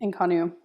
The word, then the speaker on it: INCONNU: name of your thing did I pronounce that correctly inonu yep Inu how how long did